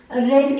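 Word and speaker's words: read: हमारा क्या है सब्जेक्ट, रेड क्या है हमारी V3। अब जैसे रीड की थर्ड फॉर्म रेड बोलते हैं, लेकिन स्पेलिंग सेम ही रहते हैं, और द नॉवल क्या है हमारा ऑब्जेक्ट है।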